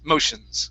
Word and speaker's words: motions: word here motions okay the t-i-o-n okay remember this is going to be an s-h-i-n type sound shin okay so what you do don't want to do is like what you would do in spanish where you say okay so it's not it wouldn't be a sion sound it's not a diphthong like that okay um where we where we're pronouncing the two separate vowels it's shins motions okay um okay next